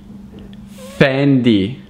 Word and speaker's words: Fendi: Then we've got Fendi. Fendi. It's not Fendi, it's Fendi. Fendi. Fendi.